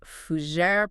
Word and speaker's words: fougère: We are unpacking the fougère, pronounced f o u g è r.